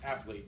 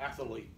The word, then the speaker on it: athlete: The word is athlete, not athlete. There's no second A in athlete.